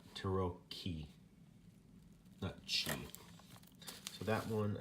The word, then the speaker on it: tarocchi: were all just discussing how to pronounce the c CH i in italian apparently we were all pronouncing it wrong so it's Turo key that chain so that